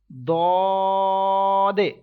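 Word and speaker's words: ض: Then dod. Okay, this letter will be stretched equal to 3 seconds, as well as with thicker voice, and as well as you have to make echo end of this letter.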